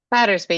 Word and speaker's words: Battersby: Is the more common pronunciation Battersby or Battersby? Battersby, right? Battersby, yes.